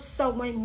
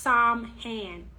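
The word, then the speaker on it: Samhain: of hot Spirit Halloween Party City and overheard someone mentioned so when um so when can be pronounced so when salvin and sauween those are the three pronunciations for sewing so when is not pronounced Psalm hand is spelled that way as um s-a-m-h-a-i-n but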